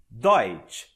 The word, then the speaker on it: Deutsch: Veja só como ficou mais fácil pronunciar a palavra alemão. Deutsch.